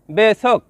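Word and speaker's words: besok: শব্দটি লেখার ক্ষেত্রে লিখতে হয় বেসোক, তবে এর সঠিক উচ্চারণ হবে বেসো।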